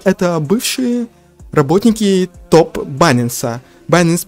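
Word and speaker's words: Binance: Байнанс произносится так правильно.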